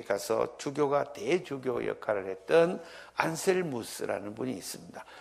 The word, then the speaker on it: 안셀무스: 주교가 대주교 역할을 했던 안셀 무스 라는 분이 있습니다 중세식 발음으로는 안셀모 입니다 안셀모 슷 이 주교의